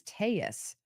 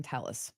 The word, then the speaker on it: Telles: who did the surveillance was pronouncing Robert's last name as taus I would assume she knows how to correctly pronounce his last name we've been saying Talis when Robert came on